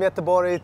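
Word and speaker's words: Göteborg: Sweden right yes yeah and how do you pronounce Gothenburg in Swedish so all the way from yetabori to uh knysna this place is incredible what's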